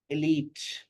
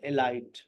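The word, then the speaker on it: elite: पढ़ रहे हैं creature इलीट इलाइट इलीट forces not एलाइट कितने कॉमन वर्ड्स है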